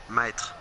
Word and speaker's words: mètre: Mètre.